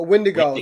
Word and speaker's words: wendigo: way to say it wendigo wendigo or wendingo oh wendigo there's no there's no end and there's no end when to go okay all right we'll